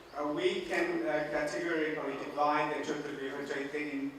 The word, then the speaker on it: Chaturbyuha: So here, defining the Chaturbyuha, as I say, phonetically very interesting. Chaturbyuha, we need to bend our tongues.